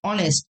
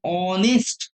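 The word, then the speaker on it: honest: কিন্তু এখানে এ আসবে না, কারণ অনেস্ট এইচ হলেও এইচ এর উচ্চারণ প্রপারলি আসছে না, সেখানে অ এর উচ্চারণ আসছে।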